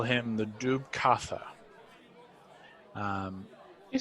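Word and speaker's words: Dubh Catha: stricken from history but stories call him the dub kapha um you spell that though d-u-b-h c-a-t-h-a um and then in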